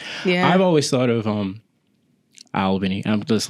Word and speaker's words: Albany: Because there's not as much as people say oh, Albany's trash.